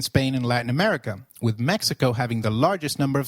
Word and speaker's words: México: Did you notice that the X in Mexicano is pronounced as H? While X is usually pronounced as X inflexible, it is pronounced as a throaty H in the words Mexico, Mexicano, and Oaxaca, which is a state in Mexico.